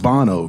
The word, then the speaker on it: Bono: And it's pronounced Bono, correct? Bono. Bono? Yeah, see, I get it wrong.